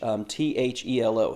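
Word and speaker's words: θέλω: And that word willing there in the Greek language is a word, we would spell it in English, T-H-E-L-O, thelo.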